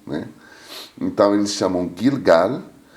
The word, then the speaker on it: Gilgal: significa círculo em hebraico em árabe se pronuncia o g com tom mais forte é gilgal eles pronunciam o l